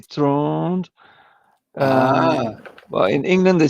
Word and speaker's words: Trond: Tron? Is the said? It's the correct way to say it in English. It's Trond. If my mother calls my name, she would say Tron. Tron, like that.